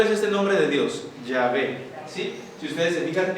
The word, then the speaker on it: Yahvé: Y que se lee Yahvé, pero en hebreo se escribe así.